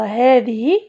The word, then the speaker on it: هذه: لاحظوا معي هنا، عندي خطأين في اسم الإشارة، هذه وهذا، هذه وهذا، نحن ننطق الألف ولكن لا يثبت كتاب، لا تثبت كتابتها.